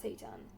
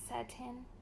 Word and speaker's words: Satin: So this is Armani Code Zatan. Zatan, and I'm saying it's like in Jeremy Fragrance kind of style because, I'm not gonna call it Satan. And it's not Satan. It's satin.